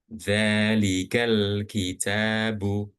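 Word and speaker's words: ذلك الكتاب: Contoh alhamdulillahirabbil alamin kan alhamdu alhamdu kemudian ee kemudian ketika alif lam itu berada di tengah, maka hanya lamnya aja yang dibaca. Contoh dzalikal kitabu. Dalzalikal kitabu.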